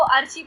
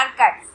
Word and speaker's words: archives: पहले इस शब्द को मुझे लगता है आप में से 90% लोग इसको अर्ची पढ़ते होंगे, 90% लोग अर्ची, लेकिन इसका प्रोनाउंसिएशन होता है एर्काइव्स।